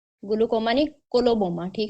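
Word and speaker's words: coloboma: Glaucoma नहीं कोलोबोमा। ठीक है? कोलोबोमा सी से स्पेलिंग है इसके सी ओ एल ओ बी ओ एम ए कोलोबोमा।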